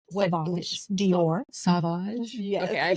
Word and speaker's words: Sauvage: So you mentioned like Sauvage. Sauvage. Dior. Sauvage? Yes. Okay, I pronounced it wrong.